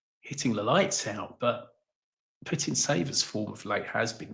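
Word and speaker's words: Putintseva: Uh but no, Nimia against Putin Saver. Is that how you pronounce her? That's it. Spot on.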